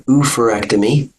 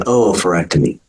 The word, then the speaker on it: oophorectomy: Both refer to the ovaries, so this can be an oophorectomy or an oophorectomy.